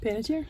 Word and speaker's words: Panettiere: Panettiere?